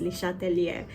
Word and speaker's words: Le Chatelier: at this principle principle I think the name is actually pronounced as Le chatelier because he is a French uh scientist okay principle states that